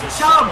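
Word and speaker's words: Chubb: go they CH push it's not CH it's chub bro if you're going to run with him say his name right bro it's not you it is chub it is Nick chub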